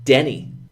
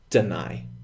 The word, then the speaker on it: deny: And I really want you to be careful with that because, you know, a lot of my students, they say Denny, but it is in fact deny.